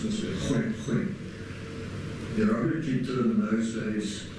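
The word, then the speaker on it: Khoikhoi: Or maybe in my sort of world, khoi khoi, or properly pronounced this way, khoi khoi.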